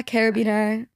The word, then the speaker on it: carabiner: Like, what really makes it stand out is the carabiner. Is that how you pronounce it? Carab. Yeah. Carabiner.